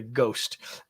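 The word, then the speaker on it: GOST: this I'm going to call it the ghost um framework go no h go framework um because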